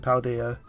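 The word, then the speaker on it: Paldea: don't uh jingle it well they say they pronounced it paul dia in the trailer they're like one of the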